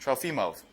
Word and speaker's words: Trofimov: Apparently I mispronounced it. I still don't know how to pronounce it. But Nick, can you say it real loud? Trofimov. Trofimov.